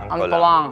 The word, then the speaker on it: Antolin: Bacanya bacanya gitu, Betrong, Antolang. Antolang. Oh, Lin dibaca Lang.